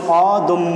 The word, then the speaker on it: অদম্য: তাহলে দেখি আমরা, যেমন অদম্য একটি শব্দ রয়েছে, অদম্য এই শব্দটির উচ্চারণ, এখানে দয়ের সঙ্গে একটি অ রয়েছে, পরবর্তীতে জ ফলা রয়েছে, তাহলে আমরা উচ্চারণ করব কিভাবে, অদম্য।